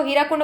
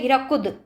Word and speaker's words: हीराकुद: जब वहां जाइएगा तो हीराकुंड बोलिएगा तो हंसेगा। उन लोग बोलते हैं हीराकुद। ठीक है? हीराकुद। द का उच्चारण करते हैं हम लोग हीराकुंड का उच्चारण करते हैं। तो वहां के बच्चे और कोई भी है ना उसको हीराकुंड बोलने से हंसते हैं सब।